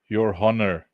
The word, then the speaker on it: honor: Your honor. Why do they say honor when it's spelled with a H?